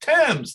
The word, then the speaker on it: Thames: But the what Berkeley does, Berkeley, what George Berkeley does is that it's like Thames or Dimes. How do you pronounce that river through London? That empties on the Thames. west. Thames, thank you.